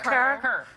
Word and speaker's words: Kerr: Kerr.